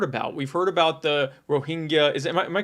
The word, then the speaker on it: Rohingya: We've heard about the Rohingya. Am I pronouncing that correctly? Yeah, Rohingya in right.